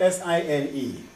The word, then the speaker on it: sine: sign they spell it s-i-n-e sign and i think that's fine because f-i-n-e is fine so s-i-n-e is sine okay so they say